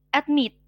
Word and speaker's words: admit: Nah, kalau diperhatikan suku kata at itu kan kayak sekilas saja bacanya. Tapi pada saat suku kata meet itu tuh lebih panjang, admit kayak gitu.